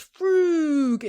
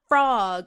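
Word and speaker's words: Frogg: meet a constable frug whose name is spelled frog with two G's and he's very sensitive about his name and he's like it's frug and not frog and everybody calls him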